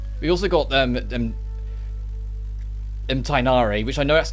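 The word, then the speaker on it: Tighnari: what i'm sticking with i know in the actual like dialect it comes from it would be you wouldn't pronounce that you wouldn't pronounce half the letters if i'm honest but the voice direction for every version of the game has pushed that and the characters pronounce it tinari for uniformity so even if it's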